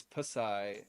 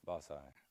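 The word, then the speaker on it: Bassai: to go over is what I pronounced and I probably pronounced it wrong growing up is Pai and they call it basai basai and what is the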